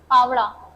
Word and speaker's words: पावड़ा: पावड़ा, पावड़ा, okay, correct pronunciation है पावड़ा।